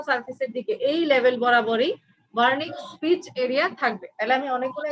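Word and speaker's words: Wernicke: এটার নিচ বরাবর একটা ওয়ার্নিক স্পিচ এরিয়া থাকবে। ব্রেনের একটা স্পিচ এরিয়া থাকবে, ঠিক আছে? ব্রেনের স্পিচ এরিয়া থাকবে, ওয়ার্নিক্স, ডাব্লিউ দিয়ে উচ্চারণ, কিন্তু ওয়ার্নিক্স স্পিচ এরিয়া, এরিয়া নাম্বার 39।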